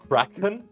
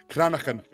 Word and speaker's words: Cranachan: Is that how you say it? Cranachan. it's like, all in the... Kraken? Cranachan. Cranachan. I think even it's possible even I'm saying it wrong.